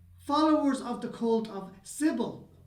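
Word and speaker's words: Cybele: of the cult of Sybil right or the Magna matter she was also known simple like civil faulty puzzles it's spelled cyb yeah but I'm right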